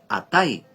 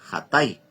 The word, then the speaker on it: Hatay: Esta ciudad en la actualidad se llama Atay, pero se pronuncia Hatay.